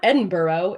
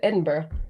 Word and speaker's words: Edinburgh: Um you know or like it's not Edinburgh, it's it's Edinburgh, you know, like or Edinburg I guess is how Americans say it's Edinburg. But like, no, well, that's not how you say it.